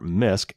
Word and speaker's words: Nysk: even from their accounts developer and security researcher misc that's spelled nysk and we've quoted this researcher before